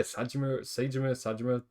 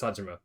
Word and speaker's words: Saejima: So yeah, Sajima, I think it's Sajima, that's how you say his name.